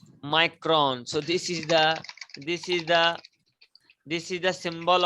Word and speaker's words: micron: studied 3 to 5 micron. So this is the symbol of micron. Wherever you will see this symbol, so you have to pronounce it as micron.